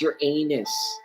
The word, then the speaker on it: Uranus: Uranus Uranus I'm like no it's pronounced Uranus and it's still a